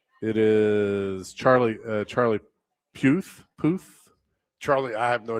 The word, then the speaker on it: Puth: Uh, Charlie Puth Puth. Charlie. I have no idea who that is. Yeah. Believe that it's Puth. Like a booth.